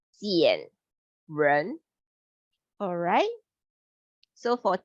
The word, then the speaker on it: 减人: It pronounced as 减, R-E-R-N, 减人.